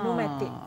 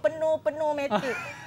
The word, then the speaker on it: pneumatik: Sistem pneumatik. Okey. Apa cikgu boleh sebut sekali lagi? Sistem? Pneumatik. Pneumatik. Pneumatik. Ejaan dia ada P. P-N-E-U. Kan? Oh, saya silap ni. Ramai orang sebut penuh-penuh metik.